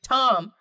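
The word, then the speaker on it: Ptom: I would name him Tom, but P-T-O-M. This is making me because up. pterodactyl is spelled with a P. Tom with a P, like P-T-O-M. Yeah, because pterodactyl is spelled with a You P. should put a P at the end, too. P-T-O-M-P. Tom. The P's are silent.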